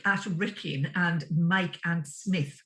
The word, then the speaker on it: Psmith: Wrykyn and Mike and Psmith with the silent P yes Psmith yes yes